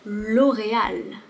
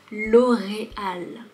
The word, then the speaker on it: L'Oréal: Ensuite, nous avons L'Oréal. L'Oréal. Le R est très léger ici, L'Oréal. Et ici, tu vois, il y a un accent aigu. L'Oréal.